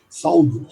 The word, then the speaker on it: Saud: Saúde que escreve S-A-U-D, Saúde, né? Na verdade se pronuncia Saúde, tá?